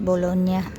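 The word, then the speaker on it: Bologna: Naisulat Dian Bulog na pero pronounce bolona niya G and n Magkatabi niya niya niya Ayan yung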